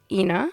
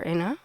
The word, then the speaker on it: Ina: this character's name is ina or inna depending on your pronunciation i say ina uh because i like to think it's sharp for like helena you know um and said